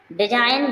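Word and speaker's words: design: के आएगी साइलेंट रहेगी डिजाइन डिजाइन मींस रचना जी आई है जी क्या है साइलेंट है नेक्स्ट नेम है नेक्स्ट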